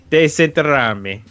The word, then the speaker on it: Desenterrarme: Desenterrarme. Oh. That's how you say it. I used the audio option for pronunciation.